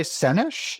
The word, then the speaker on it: Sennesh: Sennesh is my name. So it is emphasis on the first syllable in my last name.